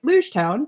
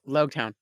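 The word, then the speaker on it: Loguetown: say it wrong yeah low Town Logan I say luge town because originally and the chapters I read uh they had written it as Rouge town so now I am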